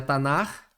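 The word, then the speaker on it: Tanakh: pelo menos um é o tanak que pronuncia tanar que é um acrônimo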